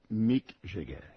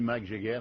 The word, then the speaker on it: Mick Jagger: monsieur en question et on dit Mick Jagger.